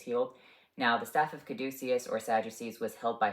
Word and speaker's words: caduceus: The actual saying is caduceus, I believe the Greek pronunciation.